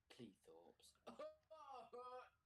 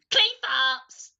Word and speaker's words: Cleethorpes: this Helena Zuma to cleethorpes we were cool no no Elliot you said it you said it wrong clay farts ow oh if they